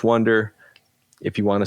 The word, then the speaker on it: Oneder: i'm okay with that so the correct way is wonder if you want to say oh neater like i get that